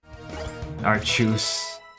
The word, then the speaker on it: Arceus: Arceus, yeah. I don't like that pronunciation. I know they did it so they wouldn't have to say arse, but like, come on. Archus.